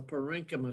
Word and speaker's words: parenchyma: derived is called the parenchyma cell. And CH is K, like chameleon. You pronounce it like chameleon.